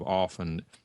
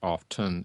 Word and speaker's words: often: the long-standing conventions and the long standing correct pronunciation of often is without the T it's not often it's often but the